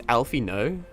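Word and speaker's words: Alphinaud: It's Alfino. Did I I didn't I would never think to have pronounced it that way.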